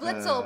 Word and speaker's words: Blitzle: by the way so no the little is a britka actually oh Blitzle Blitzle my Blitzle Blitzle okay uh is